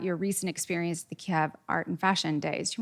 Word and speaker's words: Kyiv: And I was recently invited to Kyiv, which I learned is correctly pronounced Kyiv. Okay, well, thank you for that. Sorry, Kyiv.